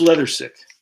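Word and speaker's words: Leathersich: I think it's Leathersick. That's how you pronounce it.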